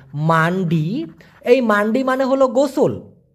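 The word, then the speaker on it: mandi: দেওয়া দেখুন কানের ব্যবহার এম এ এন ডি আই উচ্চারণটা হচ্ছে মান্ডি এই মান্ডি মানে হলো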